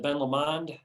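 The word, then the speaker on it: Ben Lomond: different than uh than ben lemond at the risk of pronouncing that the wrong way you did amen that was fancy that was a fancy way it sounded french instead of scottish but but we know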